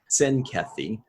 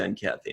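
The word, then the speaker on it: Tzenkethi: Although Odo pronounces it with the actual TZ, which is probably the correct pronunciation. He calls it the Zenkathi. Well, most people are just like, dude, that's ridiculous. I'm just going to call it the Zenkathi, and that's good enough.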